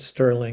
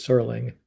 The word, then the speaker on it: Serling: And um uh I mean Rod Serling was uh uh once I learned to pronounce his name correctly, it wasn't Sterling, it was Sterling.